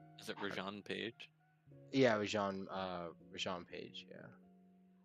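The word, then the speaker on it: Rege-Jean Page: Yeah, Rajan Page.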